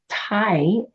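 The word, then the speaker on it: T'ai: so in the iching gate 11 is called Tha it's spelled t apostrophe Ai and it is Earth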